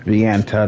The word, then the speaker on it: Vienta: Just spy you met in Vienta village handed over a letter from Vienta, that's how you pronounce it.